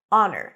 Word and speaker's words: honor: cup a great honor honor no h Oz and father honor